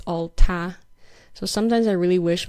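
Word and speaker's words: 他: how Chinese is engendered the third person pronoun in Chinese is pronounced ta and although we do have like uh written differences um it doesn't sound different whether it's like masculine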